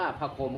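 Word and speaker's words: ผักขม: ผัก นี้ ชื่อ ว่า ผัก ขม นะ ครับ ห หีบ ม ม้า อ่าน ว่า ผัก โขม ครับ ผม ก็ คือ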